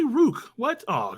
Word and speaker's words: Rukh: a second these are you that's how it's pronounced just say Rukh what I said yeah we said coach by